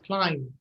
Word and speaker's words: climb: This is climb. Yes. And the B is silent, climb.